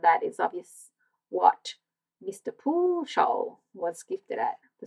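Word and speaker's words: Pujol: po Soul funny enough his Sur name is pronounced po Mr Po was a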